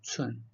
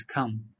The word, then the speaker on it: cun: There are some students pronounce as come. The C they pronounce as K. So in Chinese, there's no C pronounced as K. So you need to pronounce as cun.